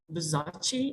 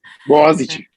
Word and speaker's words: Boğaziçi: Also Buzachi, if I'm pronouncing right. Boğaziçi. Boğaziçi Ventures, yeah.